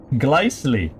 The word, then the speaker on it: Gely: SEC the exalt data gely rhymes with nicely gely okay I can handle